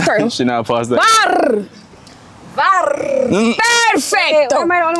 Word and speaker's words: VAR: Okay, for the next word, this is what we call VAR. What? Say it with me. You have to roll your R's Show like that. VAR.